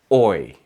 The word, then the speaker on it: hoy: In Spanish, the letter H is completely silent. Not sometimes, not only on weekdays, always. Hombro, hoy, hacer, habitación.